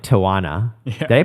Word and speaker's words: Tijuana: We ended up like, they asked us to join them in like Tijuana. Yeah. Did I pronounce that right? Tijuana? Tijuana.